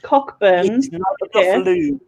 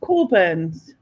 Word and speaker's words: Cockburn: called it's it's called right it's Ro it's cockburn basically it's not burs it's cools but it's pronounced cor burs looks like I know jelly is your answer